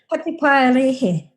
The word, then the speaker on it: Patupaiarehe: I know I'm probably going to mispronounce this terribly. The Patupaiarehe? Good try. Patupaiarehe.